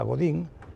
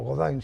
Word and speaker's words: Godin: Es más, a uno de ellos, a Godín, se lo traen o o Godin, si quieres pronunciar en francés bien, se lo traen y da lugar a una dinastía que aún están en Armada, ¿no?